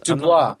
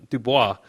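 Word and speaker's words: DeBlois: by Dean uh, Dub How do you guys pronounce this? Dubois. Dubois.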